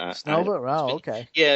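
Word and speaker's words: Снова: I think they pronounced it Snova, but Snova.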